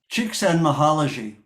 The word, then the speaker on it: Csikszentmihalyi: about him enough, so I know how to pronounce it now. Csikszentmihalyi.